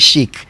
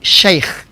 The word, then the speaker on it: sheikh: no nko with that spiritual aspect na wayɛ shake ne nasefo ɔka no where the shake no